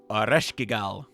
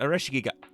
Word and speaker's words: Ares: more of her now Aral why did I pronounce it like that Ares my I don't know